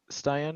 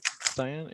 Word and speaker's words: Stian: Stian is how you pronounce Yeah. it? Stian, yeah. Stian Which- or something. I don't know. Stian, like Yeah. Sebastian.